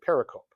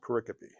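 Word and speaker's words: pericope: It's I used I'd read that and I'd say paracoup, but it's like no, it's pronounced paricopy. I check this. Google is my friend. But uh um a paricopy is a unit.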